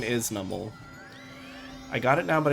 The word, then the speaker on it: Numel: So it's Numel and not Numel.